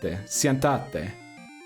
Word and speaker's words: siéntate: Remember, the accents go where you must put the emphasis. So I mispronounced it, is what you're saying. Siéntate.